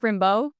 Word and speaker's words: Rimbaud: You're in rehearsal for Take Rimbo. Am I pronouncing that right? Yeah, take Rimbo.